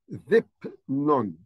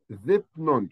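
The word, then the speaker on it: ⲇⲓⲡⲛⲟⲛ: here a word called zip none zip none so the Delta here will be a th the Yota e B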